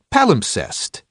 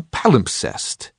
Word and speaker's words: palimpsest: to me now title palimpsest for years I've used this obscure word incorrectly worse I've always mispronounced it not sounding the second s I had thought that